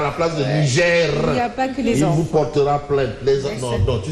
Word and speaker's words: Niger: est il sont même quand vous nous dites Niger nigère le r là sinon Isma va vous porter plainte à la place de nigère il vous portera PL